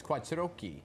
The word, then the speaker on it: Quattrochi: King, featuring New York's very own Quattrochi. Did I say it right? There we go. In Italian, yes, you said it right.